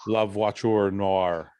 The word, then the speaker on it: La Voiture Noire: La Voiture Noire. That's how you pronounce it.